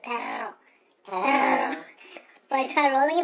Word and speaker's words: perro: Perro. We're not saying it in Hebrew here. Come on. Yeah, perro. So you roll the R like I can roll the R really good. Perro.